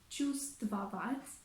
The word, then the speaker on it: чувствовать: What's more, in the word чувствовать, чувствовать, we also omit the consonant V because it's easier for the native speakers to pronounce it.